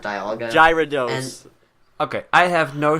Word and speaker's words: Dialga: Diagla, not Dialga.